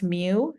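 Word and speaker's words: μ: there are so the population arithmetic mean is pronounce mu you'll see this symbol right here here it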